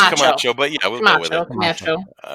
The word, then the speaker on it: Camacho: Camacho. Camacho. It's pronounced Camacho, but yeah, we'll go with it.